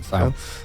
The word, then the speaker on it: Sale: Sale? That's how you pronounce it, isn't it? Yeah, Sale.